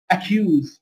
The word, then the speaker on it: accuse: طيب لو حرف سي جاء مكرر وبعده باقي الأحرف كلها، ينطق زي الكي، account، accuse، accuse يعني ايه؟ يتهم، don't accuse me يعني لا تتهمني، accuse، accuse يعني يتهم، account حساب. يبقى الاثنين ينطقوا حرف كي، لو جه بعدهم ايه؟